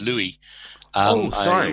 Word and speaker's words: Louis: just just for clarity my name is Louis know you Americans tend to pronounce it Lewis yeah we do that our fault sorry it's a it's a French name and they don't pronounce yes and the eventually